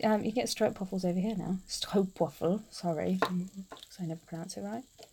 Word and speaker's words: stroopwafel: But you can get like you can get stroopwafels over here now. Stroopwafel, sorry. So I never pronounce it right. Stroopwafels. Stroop. Stroop. Yeah, but again, English, we can't get that noise in the back of our throat.